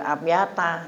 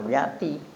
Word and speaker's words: abyata: Makanya dibacanya yuraddidu hazil abyata gitu, jangan abyati.